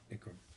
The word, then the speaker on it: Ikram: How do you say that? Ikram.